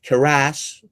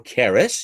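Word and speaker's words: Karrass: Now, Chester Keras, or Keras, you can pronounce it either way. It's a Greek name.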